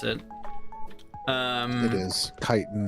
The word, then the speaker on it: chitin: Chitin is the proper pronunciation. It's not chitin. Yes. Chitin. Is it kitten though? No, it's chitin.